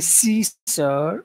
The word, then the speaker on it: seashore: the seashore the seashore I feel like my like on the seash like the middle of the tongue is also going up I think that's better if you think of it that way seore that's what I do my tongue kind of goes like and then the air passes like like here if you can see in the video sure yeah on on